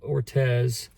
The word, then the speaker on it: Ortiz: I think you say her name. Amanda Ortez.